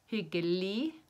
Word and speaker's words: hyggelig: We don't say the G at the end, so we just say hyggelig å møte deg.